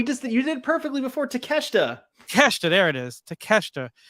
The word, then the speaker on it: Takeshita: name right say it right you got this takashita no come on we just you did perfectly before takeshita there it is to Kester we got frames